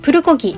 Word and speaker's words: 불고기: 음식이라고 할 수 있겠습니다 일본에서 불고기는 부르고 기 라고 발음하는 데 한국 음식이라는 인식이 정확히